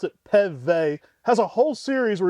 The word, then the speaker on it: Peve: I talked to his son, Tyne, and he pronounced it Peve.